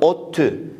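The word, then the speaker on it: ODTÜ: Eğer kısaltmayı oluşturan harfler bir sözcük gibi okunabiliyorsa o zaman biz de o sözcüğü okuyoruz. Burada ottü yani O, D, T, Ü diye okumuyoruz.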